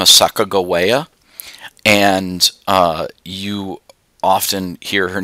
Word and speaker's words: Sacagawea: old shoshone indian woman by the name of sakagawa and you often hear her name pronounced sakajuwia um that's actually really bad pronunciation uh her name was actually sacagawea and she served as the guide and interpreter